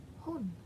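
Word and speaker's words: 本: We're gonna go with book, and in this case book is pronounced in Japanese as hon. Hon kind of sounds like hun, but with an O and not a U.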